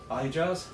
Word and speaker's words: Ahijah: Ahijah.